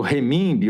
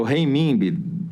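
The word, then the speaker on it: renminbi: nome da moeda chinesa reimb ou re mimbe o rei mimbe pode ter as duas pronúncias Porque do mesmo jeito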